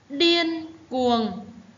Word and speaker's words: điên cuồng: Điên cuồng, các em lưu ý tiếng điên, vần yên, i-e-n yên. Tiếng cuồng, vần uông. Đọc điên cuồng.